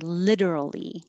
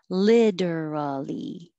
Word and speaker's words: literally: care hyper care and you have a couple options for literally you can say literally t changes to a d and you have four syllables or you can make it shorter keep the t and say literally literally or literally theoretical the reason i